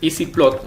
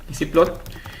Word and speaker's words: ezplot: El comando es EasyPlot, así se pronuncia, EZPlot, EasyPlot, y luego escribo la función.